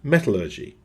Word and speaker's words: metallurgy: In America, the science of studying metals is called metallergy. See? Meanwhile, we Brits prefer a pronunciation we like to think is fittingly a little bit more refined. Metallergy.